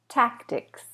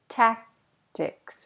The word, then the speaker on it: tactics: Compromise, compromise, consult, consult, recap, recap, tactics, tactics, tactics. The C is almost not there.